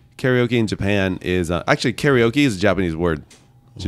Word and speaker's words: karaoke: no I didn't so in Japanese it's called karaoke and Kata means empty okay is actually short for orchestra so it means empty Orchestra in English we call it karaoke and uh so in